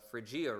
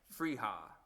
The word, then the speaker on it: Frijia: They get the right, but they don't often get the friia right. And they they they just they just guess. And usually the J is is silent.